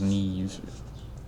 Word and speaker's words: Neve: And the only reason I know that is pronounced Neve, which I believe is an Irish name, is because it rhymes with leaves.